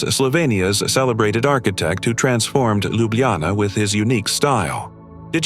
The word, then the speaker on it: Ljubljana: Pronounced Ljubljana, I know, it's a bit tricky.